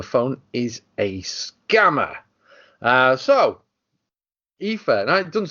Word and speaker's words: IFA: I always said, like in my head, I said IFA, and then when I went to CES for the first time last year, someone said IFA, and I was like, oh, that's how you say it.